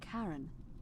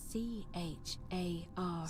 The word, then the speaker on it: Charon: The name you heard wasn't Karen. It was C-H-A-R-O-N. C-H-A-R-O-N. As in Charon, the ferryman of the dead.